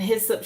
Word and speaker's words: hyssop: And hyssop showed up showed up to help purify or dispel negative energy or influences.